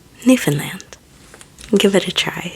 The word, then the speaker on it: Newfoundland: Important to remember if you want to impress a Canadian is that it's not pronounced new found land, but altogether Newfanland.